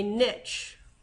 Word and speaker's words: niche: where an organism lives a niche or Niche I've also heard it pronounced basically what an organism